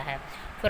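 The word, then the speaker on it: half: एल के बाद अगर एफ आता है, एम आता है, के आता है और डी, तो एल साइलेंट रहता है। Means L becomes silent when उसके बाद जब क्या आता है एफ, एम, के, डी। फॉर एग्ज़ाम्पल एफ़ का एग्जाम्पल देखेंगे सबसे पहले हम। हाफ, काफ।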